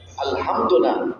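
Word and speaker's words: الحمد لله: হ্যাঁ, হা উচ্চারণটা এভাবে করে আলহামদুলিল্লাহ, কি আলহামদু, হ্যাঁ কি বলেন, ঠিক করা যায় কিনা?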